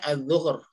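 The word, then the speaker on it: الظهر: Ini bacanya al-zuhur.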